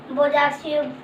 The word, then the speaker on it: Bojaxhiu: Agnes की यहाँ spelling पढ़वानी है तो AGNES Agnes. AGNES Agnes. GONXHA गोंगशा। बोजाक्सियू BOJAXHIU बोजाक्सियू।